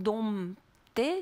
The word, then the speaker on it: dompter: commence à préciser attention il ne faut pas faire sentir le p et attention ça c'est intéressant om donc dompter se prononce comme o